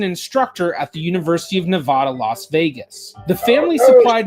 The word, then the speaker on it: Nevada: the cardinal sin what did I it's it's Nevada not n you have to learn how to mispronounce names correctly when you're if there's one